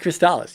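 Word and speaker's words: Crystalis: Yes, it is in fact pronounced Crystallis.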